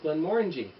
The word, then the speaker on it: Glenmorangie: Now, Glenmorangie, that's the correct pronunciation for the fellow Canadians or Americans watching. Let's avoid saying Glenmorangie or Glenmorangie. It's Glenmorangie.